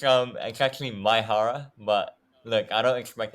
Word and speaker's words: Maehara: It's actually Maehara, but look, I don't expect anyone to get it correct.